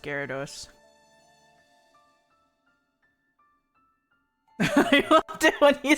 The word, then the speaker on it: Gyarados: short he's hilarious welcome back shrimply yes it's pronounced Gyarados I it when he said aroused and start